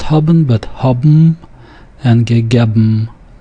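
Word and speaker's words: האָבן: Note that haben is not pronounced haben, but haben and gegeben. So the N sound changes to the M sound.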